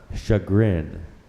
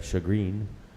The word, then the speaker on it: chagrin: repeat the word please shut grin there are no alternate pronunciations although there are a couple of non-standard pronunciations they have here one being shagreen another being shagging but the standard pronunciation is chagrined can I have that